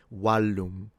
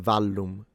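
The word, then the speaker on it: vallum: And that's because most likely they were pronouncing it with a W. Walum or wum rather than valum.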